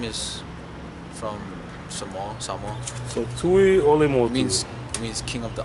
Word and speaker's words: Tuiolemotu: So Tuiolemotu It means king of the island.